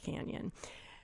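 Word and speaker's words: Cañon: So it is Cheyenne Cannon, but of course it's pronounced canyon.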